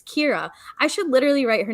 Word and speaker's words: Kyra: cinco so danny and i said kair again it's kira i should literally write